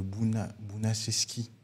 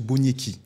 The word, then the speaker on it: Boniecki: c'était plus qu'un prof, c'est Monsieur Bounacheski. Je prononce mal son prénom. C'était un prof d'histoire. Ouais. Non, même pas. C'est Monsieur Boniecki. Voilà, Monsieur Boniecki.